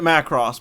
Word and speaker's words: Macross: all right all right matt cross i'll say it macross but yeah people have